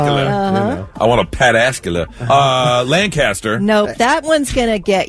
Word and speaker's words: Lancaster: How is that not Lancaster? It's not Lancaster. It's Lancaster. Lancaster. Is that the same thing in Pennsylvania? It's Lancaster, Pennsylvania, isn't Lancaster, Pennsylvania. But here it's Lancaster.